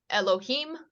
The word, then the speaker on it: Elohim: of it this is Elohim once again silent letter this indicates an uh an e sound this is an l o h i uh that's a vowel symbol for the I am so that's Elohim and then you see